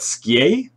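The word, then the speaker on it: Skjei: Is that Skye? I'm going to go with that. Or Skye? Or do you have to say it like Skye? It's Sky, really? Ah, good to know.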